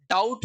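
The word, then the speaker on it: doubt: डाउट पढ़ते हैं इसमें भी बी साइलेंट रहता है।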